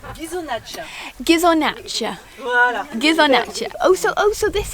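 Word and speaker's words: Ghisonaccia: Pascal, comment est-ce qu'on prononce Gizonaccia? Gizonaccia.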